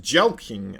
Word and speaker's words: Jelqing: Jelqing. Thanks for the content, by the way. It's pronounced Jelking.